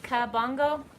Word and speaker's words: Kabongo: living with the Kabongo did I say it right Kabongo you've been subscribed to